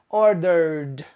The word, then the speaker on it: ordered: Order ends with an sound. So the past is pronounced ordered.